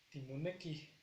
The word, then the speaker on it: timoneki: Igual aquí al final de la palabra indicamos una H para alargar la pronunciación, que es timoneki.